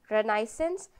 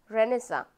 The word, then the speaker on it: Renaissance: also known as renaissance we can we can pronounce this word renaissance as well as renesa both will be correct okay renesa also will be correct and renaissance will be uh will also be correct so renasa was a